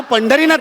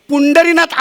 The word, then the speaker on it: पंढरीनाथ: अहो माझं नाव पंढरीनाथ आहे हो. पुंडरीनाथ असं कोणी नाव नाही ठेवत.